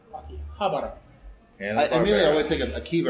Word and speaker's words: Akihabara: Welcome to this live episode of the OSMcast with Akihabara Renditions. Podcast Super Friends. Super Friends. It start off with Podcast Super Friends. That's right. Akihabara, not Akihabara. Akihabara.